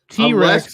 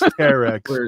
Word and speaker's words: Terex: T-Rex, according to Larry Legend. T-Rex. He's going back and forth. It's Terex, by the way.